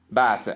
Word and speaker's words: bath: Not bath, as some people say.